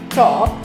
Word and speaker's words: talk: Walk, talk, L is silent.